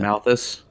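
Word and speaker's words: Malos: it up the world tree uh jyn and Malice both have died sadly uh you mean malus that one yep I promise in my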